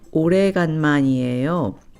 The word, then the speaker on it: 오래간만이에요: First, let's practice the phrase 오래간만이에요, which means long time no see.